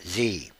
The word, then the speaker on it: Xe: to former company officials Blackwater which is now XE but pronounced Z approved the cash payments